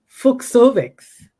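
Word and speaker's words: Fucsovics: And according to my computer, his name is pronounced Fuchsovics. Fuchsovics.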